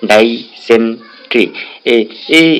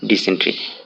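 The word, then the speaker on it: dysentery: আমি এইভাবে পড়ছি যে ডাই সেন্ট্রি, এইভাবে আমি মুখস্থ করছিলাম, কিন্তু এটার শুদ্ধ উচ্চারণ হবে ডিসেন্ট্রি।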